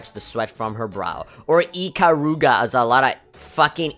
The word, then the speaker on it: Ikaruga: Some people might go as far as to call her Ikaruge. And so those people are just fucking brain dead. But either way, Ikaruga.